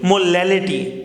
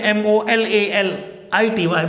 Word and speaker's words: molality: तो molality can be defined it as, it is not molarity, molality। ठीक है, spelling देख लेंगे यहाँ पे MOLALITY, molality पढ़ेंगे इसे।